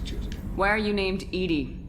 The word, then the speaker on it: EDI: they did fantastic choosing why are you named Edie Edie is the phonetic pronunciation of e di that is an acronym